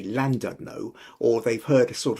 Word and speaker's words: Llandudno: If you have an LL in a word, it's pronounced that It's not a sound that comes in English. It's a it's very much a Welsh Celtic sound.